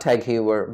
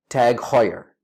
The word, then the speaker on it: TAG Heuer: fan of their watches it's not tag heuer because it's outrageous to pronounce a dutch name in an English manor the correct pronunciation is tag heuer it's tag ta g hot as in h aw here ye are tag higher next time we